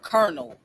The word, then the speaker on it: colonel: Like the word kernel, there's no R in the word colonel.